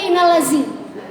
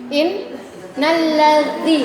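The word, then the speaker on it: إن الذي: Lalu selanjutnya huruf dza sering sekali terjadi kesalahan dibacanya za innalladzi. Sering enggak? Iya. Harusnya dia dza. Dza itu ujung lidah keluar. Yakinkan aja Bu. Keluar. Yakinkan aja kadang innallazzi gitu kan. Inalladzi lidahnya keluar tuh d angin.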